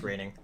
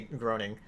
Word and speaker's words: Groening: yeah, it's pronounced Groening. Yeah, they make fun of that in The Simpsons, where like people always say groaning.